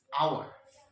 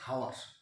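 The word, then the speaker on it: hour: তারপরে দেখতে পাচ্ছি আওয়ার, কি উচ্চারণটা হচ্ছে আ, নট হাওয়ার।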